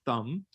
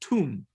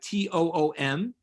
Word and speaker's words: Thum: She says, Rabbi, in Hebrew, my last name Thum is not pronounced Thumb. It's pronounced Tum, like Toom, because my father is